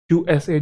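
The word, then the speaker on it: USA: यूएसए जिसमें word को individual मतलब लेटर को इंडिविजुअली बोला जाता है।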